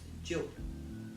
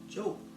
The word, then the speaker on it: Diop: like this the oh it's pronounced joke as in rhymes with hope I would say with